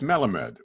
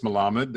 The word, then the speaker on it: Melamed: do i pronounce it it's melamed it is an element it is melamed i mean properly it's malamad as you said yes with sephardics like my family said they had they